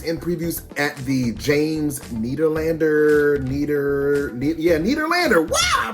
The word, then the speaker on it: Nederlander: Devil Wears Prada is in previews at the James Nederlander. Wow, I pronounced it right.